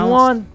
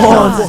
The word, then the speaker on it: Juan: That's just how it's pronounced. Juwan? Is there Juwan in the room? It's Juan. No, Juan.